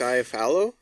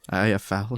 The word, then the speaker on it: Iafallo: Alex Iafallo. Iafallo.